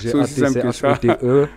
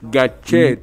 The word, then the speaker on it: Gatchete: Gatchete, G-A-T-C-H-E-T-E. Gatchete. Il y en a un seul, c'est moi. Bien prononcé, avec l'accent du Sud. Gatchete, c'est important. Voilà.